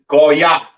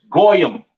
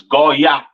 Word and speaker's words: Goya: Pronounced in the Hebrew, Goya. Goya. The Yiddish man says Goyim or Goyim or whatever the hell he says. That's not the proper pronunciation for the word Gentile in Hebrew. It is Goya.